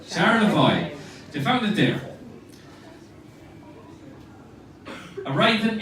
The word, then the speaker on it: Charlevoix: How do you pronounce that lake that you call there? Charlevoix. Charlevoix.